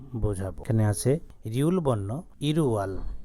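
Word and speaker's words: 일월: এখানে আছে রিউল বর্ণ ইরুয়াল রিউল বর্ণ যখন উপরে চলে যাবে তখন ল বর্ণ না হয়ে রর উচ্চারণ হবে ইরুয়াল প্রথম মাস অর্থাৎ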